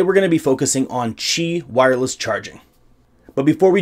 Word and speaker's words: Qi: lot of people call it Qi charging or key or key charging it's actually pronounced Qi CH I or CH EE however you want